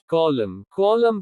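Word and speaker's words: column: कुछ शब्दों के अंत में N का उच्चारण नहीं होता। कॉलम स्तंभ।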